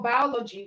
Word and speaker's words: biology: So we have O as the stress syllable in biology.